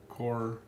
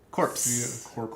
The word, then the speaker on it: Corps: So, we're playing uh Core of Discovery, which with a P core corpse.